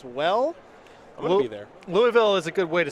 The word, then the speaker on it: Louisville: that's not it sight of the grand Pricks loville there you go been a minute been a